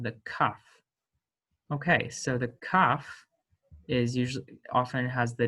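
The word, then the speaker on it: ק: in the middle and when it has the dot in the middle it has the hard pronunciation when it does not have the dot in the middle it is pronounced um with the uvular the voiceless uvular fricative so that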